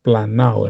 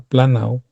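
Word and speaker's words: πλανάω: Se la doy para que usted vaya y busque con las herramientas que están disponibles la palabra G4105 que se pronuncia más o menos planao, hermano.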